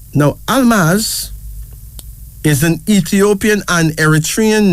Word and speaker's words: Almaz: one our third female name is Almaz a-l-m-a-z Almas now Almas is an Ethiopian and Eritrean name meaning Diamond